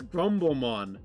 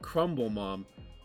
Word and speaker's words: Grumblemon: It's Grumblemon, and I pronounced it Crumble Mom.